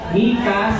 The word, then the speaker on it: Micah: Ayan ang papagat po ng ating kwento ngayong linggo ay pinamagatang Mikas Mikas Idol or Mika's Idol. Amen. Saag sa English kasi this is pronounced as Mika.